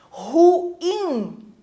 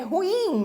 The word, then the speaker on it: ruim: Ruim, né? Porque a pronúncia correta é ruim, não ruim. É ruim, formando hiato.